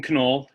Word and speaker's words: Canole: my name is canole um i know it looks like noel but i can assure you the k is pronounced uh i'm from uh